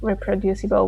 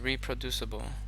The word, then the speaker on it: reproducible: able to perform tasks in a precise, exactly reproducible way, where casual users may be happy if the program can be intuitively made to do approximately what they wanted.